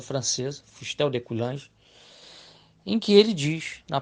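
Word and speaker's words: Fustel de Coulanges: cidade antiga do Historiador fustel de cange a pronúncia francesa fustel de cange em que ele diz na página 45 seguinte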